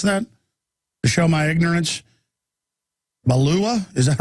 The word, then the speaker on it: Beulah: KDKT 1410 AM in BEULAH. How do you pronounce that? To show my ignorance. Balua, is that right?